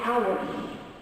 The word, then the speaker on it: hour: Silent H, as I said at the beginning, H is not pronounced at the beginning of many words. And when it's there, I do not put an because it's like a vowel here. I do not say an hour.